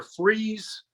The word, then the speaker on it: Fries: were in it was either freeze virginia which is spelled fries or um just right